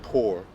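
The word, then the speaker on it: πῦρ: He's saying pour, P-Y-R, and it does say pour, pronunciation pour.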